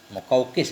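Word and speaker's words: المقوقس: Wa abqal muqawqasa, muqawqis biasanya bacanya.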